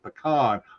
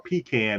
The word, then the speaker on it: pecan: She said pecan or pecan if you want to say it wrong.